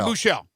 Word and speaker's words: Buechele: Am I pronouncing his name right? Is it Shane Bukele? How do you say his last name? Shane Buechele. Buechele. Okay.